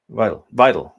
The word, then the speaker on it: Weidel: Weidel.